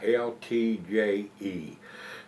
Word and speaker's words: Uiltje: It says here, it's Brouwerij het Uiltje, it's Uiltje. So some of the words are pronounced kind of different, and I really don't know how to pronounce anything.